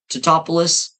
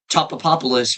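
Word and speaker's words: Tatopoulos: His name is Nicotop or Topol blah Totopoulos, but they call him Topopopoulos, which was funny the first time whenever they said it.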